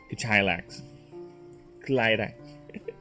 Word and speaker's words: Ktlax: Because I'm thinking like, his name is Ktlax, right? Yes, it's pronounced like that. Ktlax. Ktlax.